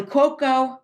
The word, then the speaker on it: Cuoco: Kelly Cuoco. Is that how you pronounce her name?